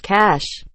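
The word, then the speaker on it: cache: it's an ambiance quote cash is pronounced cash just because it has an e on the end doesn't mean you have to throw on a french accent and pronounce it how you think they would or do cash a y is definitely not correct when people pronounce mature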